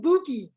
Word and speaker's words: Bukky: It's actually pronounced Bukky. Oh, Dr. Bukky. Okay, cool. Absolutely. It's a Yoruba name.